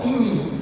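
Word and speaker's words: τιμή: lá do grego honra é chamado de timi na se fala dessa forma timi no grego se escreve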